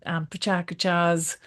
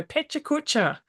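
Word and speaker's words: PechaKucha: Because in Australia you go pecha kucha, but it's pachakacha, isn't it? Is that right? Did I get it? Pretty close. Pecha kucha.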